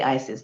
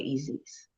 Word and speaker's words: Isis: go over to egypt they don't say isis they say easies did you hear that